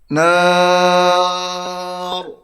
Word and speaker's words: النَّار: Nar. Tebal. Tak boleh kita baca dengan nar. Nar. Tak boleh.